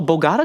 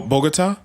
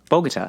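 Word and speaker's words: Bogotá: okay as well plus oh bogata colombia oh bogota bogota yes yeah yes home of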